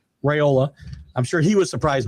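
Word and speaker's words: Raiola: Uh uh uh I say his name uh Rally Raola Raayola.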